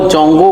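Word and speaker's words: 中国: इस शब्द का असली प्रोनाउंसिएशन निप्पो होता है। ठीक ऐसे ही चाइनीज में चाइना कंट्री को जोंगू कहा जाता है, लेकिन इसको इंग्लिश में लिखना बहुत ही मुश्किल है।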